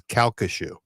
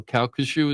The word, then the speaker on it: Calcasieu: It's Calcasieu. Oh, Calcasieu is how you pronounce it?